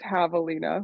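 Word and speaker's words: javelina: it's very unique so it's well first it's pronounced Havalina withina pardon yeah looking like jalapeno Havalina there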